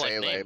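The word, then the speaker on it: Seele: My years of watching Evangelion have taught me that it's pronounced Sele, by the way.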